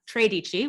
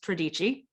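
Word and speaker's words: tredici: like to call uh tradici which is a mispronunciation of the italian word for 13. it's pradichi god damn it she's putting the emphasis on the wrong syllable um those cost upwards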